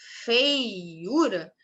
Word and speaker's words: feiura: Então, a gente tem feiura. Esse I, feiura, esse I contamina tanto o E quanto o U.